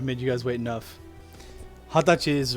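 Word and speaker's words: 二十歳: too it's not wrong but the more common pronunciation is either hatachi or hatsuka for days the 20th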